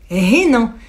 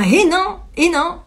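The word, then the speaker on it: hennin: C'est donc ce dont je vous parlais tout à l'heure, à savoir le traitement du hénin. Un hénin, ça s'écrit H-E-2-N-I-N, si je dis pas de bêtises.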